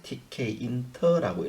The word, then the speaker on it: tkinter: 읽을 때는 이제 tkinter라고 읽는데요.